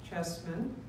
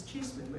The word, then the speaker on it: Cheeseman: Circuit Group 18, Chessman. The It's Cheeseman. I just pronounced that to you, and then I said it wrong.